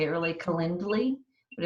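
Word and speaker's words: Calendly: to say it really kendly but it's like calendar but it's like calend with a ly and in that you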